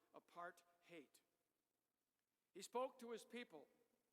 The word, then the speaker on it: apartheid: South Africans pronounce it apart-hate.